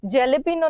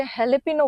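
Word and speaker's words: jalapeño: एच लिखा है तो यह स्पेनिश टर्म है जिसमें जे जो है उसको ह प्रोनाउंस किया जाता है जैसे जेले पनो नहीं बोलते हेले पिनो बोलते हैं वैसे य मोजावे नहीं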